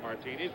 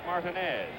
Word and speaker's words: Martinez: reggie jackson's middle name spelled the same way pronounced martinis we're just been calling him luck martinez for i don't know how many years but now we're told that the absolute correctness of the pronunciation is martinez right phil mason three to two paul gets